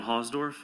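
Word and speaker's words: Hausdorf: My name is Hosdorf. My last name is spelled H A U S D O R F.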